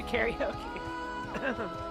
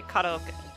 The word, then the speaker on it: karaoke: I'm going to say, "Let's go do karaoke." Gamut Chris, you're on YouTube. Whoa. How did you find yourself there? Um, so I'll say karaoke, but if I'm in Japan, I'll I'll say kok, you know, that's what it is.